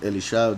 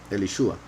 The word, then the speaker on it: Elishua: Then the men of the city said to Elishua, most people pronounce Elisha. There are several reasons why I think it could be, or perhaps should be, Elishua.